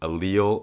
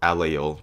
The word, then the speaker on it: allele: You can pronounce it allele or allele, depending on where you are in the world.